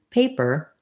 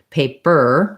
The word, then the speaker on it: paper: In paper, I have to go quickly and lightly. I don't want to stress that. I don't want to say paper. That would sound strange.